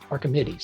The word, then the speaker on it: Archimedes: Archimedes.